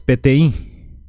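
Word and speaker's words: peteĩ: para que puedan ver pti es 1 la pronuncia es pti uno número dos vamos a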